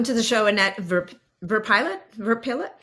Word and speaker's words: Verpillot: time um pronouncing it I think in English would be pronounced verpo does that make sense